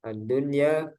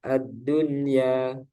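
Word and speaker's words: الدنيا: Tidak berlaku hukum idgham bi gunnah pada 4 kata berikut ini, yaitu ad-dunya, sinwanun, qinwanun, bunyanun. Para ulama sepakat untuk membacanya secara jelas atau idhar karena masih dalam satu kata dan mereka menamakannya idhar mutlak. Ada yang menamakan juga idhar wajib.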